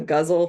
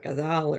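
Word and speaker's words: ghazal: I'm writing in the the guzzle form or gazal or how everybody pronounces it a little differently um and I've been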